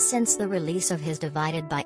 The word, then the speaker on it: ÷: in the four-plus years since the release of his divided by album pronounced divide ed sheeran married longtime sweetheart cherry seabourn welcomed their first child daughter lyra and turned 30.